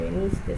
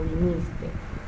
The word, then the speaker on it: viniste: Veniste, ya de esta la hablé, veniste no se dice veniste, sino viniste.